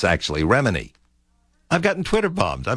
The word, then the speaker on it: Remini: of course, Tom Cruise and Leah, and I mispronounced her last name. It's actually Remini.